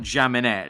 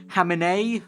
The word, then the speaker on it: Jaminet: So we're going to send out I think someone corrected me in the comments last time that it's not Jaminet, it's a French name apparently.